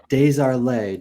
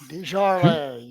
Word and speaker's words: Desjardins: Up next, we've got Grinnell Buzz Desjardins. Did I pronounce that correctly? Desjardins. You remember? Desjardins. Like fine wine. Beaujolais, Desjardins.